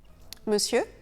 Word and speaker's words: monsieur: Monsieur, monsieur. Le ON dans la première syllabe de monsieur se prononce dans ce cas E.